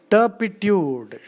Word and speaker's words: turpitude: Turpitude, wicked, immoral, shameful, wickedness, depravity, turpitude, Turpitude. Turpitude, the R is silent in this silly language.